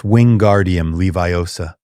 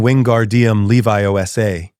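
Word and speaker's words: Wingardium Leviosa: You're saying it wrong, Hermione said, trying to help. It's Winguardium Leviosa. You're saying Winguardium Leviiosa.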